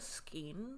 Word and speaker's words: skein: s-k-e-i-n e-i-n yeah okay which is why i'm assuming it's skeen i've never heard it